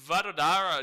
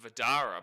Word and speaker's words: Vadodara: By the way, how do I pronounce Vadodara, Shatish? Because the commentary keeps calling it like Vadara. So it's like the D-O-D, the O and D means nothing, and it's just Vadara, but there is an O and D in the middle.